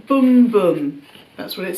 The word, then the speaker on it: Bum Bum: was but it was a pronounced boom boom that's what it says